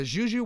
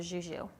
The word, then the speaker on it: Jou: you can call your Zhoo. Where did that come we from? are, well, it's French-German, Okay. but it's spelled phonetically. So you would typically see it like J-O-U. And we're our dad's 3 Zhoo girls.